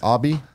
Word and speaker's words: ABI: Abby? I think it's called AB. Oh, is it AB? AB, like it's a robot. That's how the guy pronounced it. ABI is how you spell it.